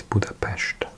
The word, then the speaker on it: Budapest: My Hungarian is very bad, but I know that an S is pronounced sh so it's Buddhapest.